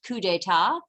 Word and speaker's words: coup d'état: And so there was a coup, that coup d'état is actually pronounced coup d'état.